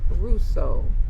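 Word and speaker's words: Hruso: The H is silent, so it's pronounced Russo.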